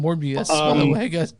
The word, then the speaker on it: Morbius: And by the way, the movie's called Morbius. By the way, guys, not Morpheus, but Morbius.